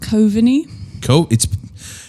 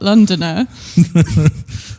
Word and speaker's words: Coveney: So is your last name Londoner or Londoner? No, it's pronounced Coveney. It's spelled with an L in the beginning. My surname is not Londoner.